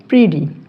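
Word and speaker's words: pretty: দীর্ঘকার তাহলে কি হবে এটা প্রিটি অর্থাৎ প্রিটি কিন্তু উচ্চারণ প্রিডি প্রিডি অর্থ কি সুন্দর অর্থ সুন্দর।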